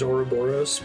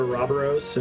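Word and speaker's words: Ouroboros: the city limits roberos the greek pronunciation is auroboros but ever since they called it a robberos and uh rarely default it's a cool sounding pronunciation makes it sound so evil behind several crises that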